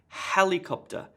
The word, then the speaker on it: helicopter: tas gets the emphasis helicopter helicopter emphasis on the first syllable the other syllables have less emphasis personality she has a